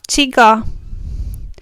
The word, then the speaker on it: csiga: The first consonant we will look at is the Hungarian CS. CS does not exist in many languages, or is pronounced differently. In English, it is closest to the CH sound.